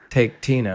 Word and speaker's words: Taketina: It's spelled like Taketina. Taketina.